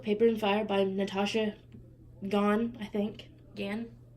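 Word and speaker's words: Ngan: Girls of Paper and Fire by Natasha Gann, I think. Gann? I don't know if the N's silent or not, but Natasha Gann.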